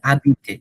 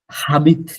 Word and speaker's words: habite: যে যাচ্ছি, এইচটাও ভাওয়েল, এইচটা হচ্ছে মিউট ভাওয়েল, সাইলেন্ট ভাওয়েল। হ্যাঁ, সো এটা হচ্ছে এইচ, মিউট হ্যাঁ, এবং এইচ এর উচ্চারণ অনেক সময় এর মতো হয়। এক্স্যাক্টলি। তাহলে এটা আপনার হচ্ছে like it doesn't go with like হাবিত না, ইটস আবিত, আবিত।